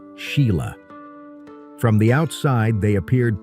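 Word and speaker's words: Sighle: who became a film producer, and Sail often pronounced Sheila.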